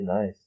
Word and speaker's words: Nice: at a hospital in Nice. I pronounced that word right. Yeah, you did. I'm proud of you. I didn't say nice. So later at the hospital in Nice.